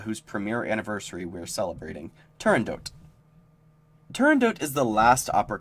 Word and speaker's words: Turandot: For a long time, I pronounced it Turandot. Then, after looking into the pronunciation, I've modified it to Turandot.